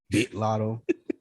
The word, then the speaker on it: Latto: project i'm a big lotto fan you got to say it like you from atlanta lita g off the bi hard eye lotto oh i i'm ex